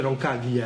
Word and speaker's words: Roncaglia: Si legge Kučka. Roncaglia! Si dice Roncaglia, argentino.